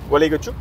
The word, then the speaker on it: Gualeguaychú: Gualeguaychú, Gualeguaychú.